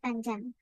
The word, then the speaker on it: fandom: Yeah, fandom. Then we have to strike the first syllable.